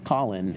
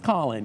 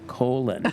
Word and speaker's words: Colin: so then he spells Colin you know and I said said oh that's the problem see we would pronounce that colon you know and so